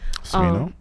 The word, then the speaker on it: Smino: Smino? Thank you. I just heard about him this weekend. Supposedly he's from Cali and everyone knows him. I didn't know him. Smino? Yeah, he's been around. Smino.